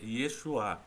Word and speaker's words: Yeshua: a Jesus, mas fala: "É exua". É Yesua. E na verdade a pronúncia correta é Yesuá, não é?